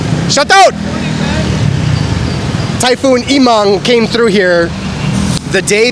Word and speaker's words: Emong: Typhoon Immang came through here the day before my arrival.